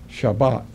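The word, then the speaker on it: שבת: concordance is number 76 76 and it is pronounced phonic Lee as shabbat it and related words have similar definitions an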